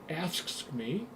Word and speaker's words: AFSCME: He worked for the American Federation of State, County, and Municipal Employees, pronounced AFSCME, if I can get that out right.